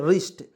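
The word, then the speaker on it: wrist: इसको क्या पढ़ते रिस्ट डब्लू को साइलेंट करेंगे आर से होता है र देखिएगा आर से होता है र लिखेंगे आई का प्रयोग छोटी की मात्रा ए से आधा स होता है टी से ट तो क्या पढ़ेंगे आर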